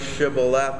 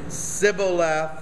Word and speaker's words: shibboleth: they say you know say the word shibboleth and we'll let you in and they say sibilath and verse six for they cannot pronounce it correctly Then They seized him